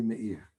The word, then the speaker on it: Meir: By the way, Catherine, I would love it if you called me Meir.